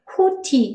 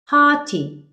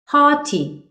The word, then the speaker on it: haughty: 발음하실 때 haughty 아니고요. 입을 아 상태로 벌리시면서 오를 발음하면 haughty, haughty 이렇게 된답니다.